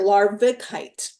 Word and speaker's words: larvikite: one that came forward is Lite now lovite is spelled l a r k i v I'm sorry larvikite I I call it l l l a